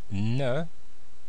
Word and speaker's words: ne: It is je, ne, N-E, and the E here is pronounced, it's the natural sound of the E in French, which is E, like in je, remember?